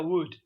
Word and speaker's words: would: Cuidado que esto se pronuncia como si no hubiera L. Se pronuncia would. Would. Así, como si sonara would.